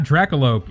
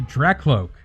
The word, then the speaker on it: Drakloak: it this entire time that's not draculoke it's a track cloak one sec i gotta